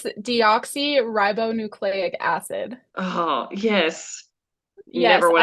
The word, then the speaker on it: deoxyribonucleic acid: It's deoxyribonucleic acid. Oh, yes. Yes, Never would and I have strung those syllables together though.